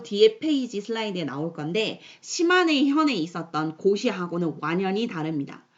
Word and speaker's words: 시마네: 시마네 현, 이거를 애들한테 읽으려고 하면 맨날 시네마 현이라고 읽는데 아니에요. 시네마 아니고 시마네 현.